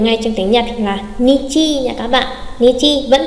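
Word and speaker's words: 日: Nhắc lại, đôi đếm ngày trong tiếng Nhật là chữ Hán như thế, chủ yếu đọc là Nichi.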